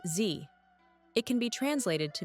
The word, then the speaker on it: Dzi: The word Z isn't Chinese. It comes from Tibetan and is pronounced Z.